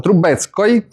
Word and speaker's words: Trubetskoy: Lo scultore Trubetskoy, come si pronuncia? Trubetskoy.